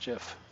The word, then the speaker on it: GIF: see roll20 finally allows gifs and yes it's pronounced jiff yes it's written with a GE not with